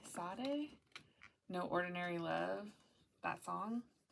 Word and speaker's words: Sade: was hearing earlier um how do you say it shade Sade No Ordinary Love that